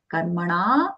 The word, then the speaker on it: Karmanam: Karmana, na long, mashamas, mashamas, ma, followed by the sha, Shiva Valasha.